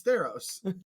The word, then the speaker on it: Theros: guy how do you how do you pronounce theros it's theros that does not look like theros i'll tell you that